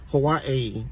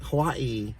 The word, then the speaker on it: Hawaii: like she says like the way that she even says Hawaii I can't even do it it's like Hawaii Hawaii you know like she pronounces every a and I Hawaii and then she's always